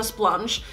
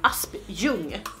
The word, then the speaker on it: Aspjung: my Instagram name, and she read it as Splunge, and I thought that that was so much fun. So my name is actually Aspjung. That is the way I would pronounce it, but I guess that